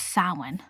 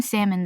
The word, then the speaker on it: Samhain: I think it's Samhain. I've been saying salmon this whole thing. It's Samhain. That festival.